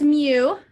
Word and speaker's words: mu: like moo cracks me up okay so that's mu that doesn't even look like a u right